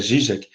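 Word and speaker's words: Žižek: Zizek, hoje em dia, o Zizek, como alguns, né, porque a pronúncia é Zizek, né, ele, pegando Hegel nesse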